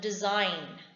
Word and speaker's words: design: rule that is if the letter g is silent when it appears before the letter n in certain cases for example design b e s i